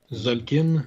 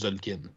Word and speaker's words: Tzolk'in: À ce moment-là, c'était pas encore la série d'été, c'était juste Tzolk'in. Surtout, étrangement, c'est le seul que tu le prononces pas, le T.